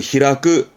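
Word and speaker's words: 開く: 크가 있습니다 이런 경영은요 발음을 히라끄 히라크 하게 됩니다 히라그는 한자가 개니까 그죠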